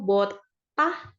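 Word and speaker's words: 벗다: baju melepas baju itu botah botah jadi ada S di bawah Tapi bacanya jadi t ya botah artinya melepas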